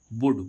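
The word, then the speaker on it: would: ऐसे ही इसमें हम देखें डब्ल्यू ओ यू एल डी वुड वुड मी्स चाहेंगे। तो देखो यहां पर भी एल कैसा हो गया? साइलेंट। क्योंकि ये किससे पहले आ रहा है?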